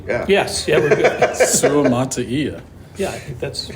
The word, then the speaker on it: Suamataia: Suamataia. Yeah, I think that's, you got it, right? Suamataia.